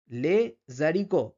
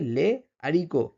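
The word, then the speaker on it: les haricots: দিচ্ছি সেজন্য লিয়াজ হচ্ছে এরপরে কিন্তু লে জারিক এটা কিন্তু আমরা উচ্চারণ করছি না উচ্চারণ এটা হবে লে আরক ঠিক আছে এখানে কিন্তু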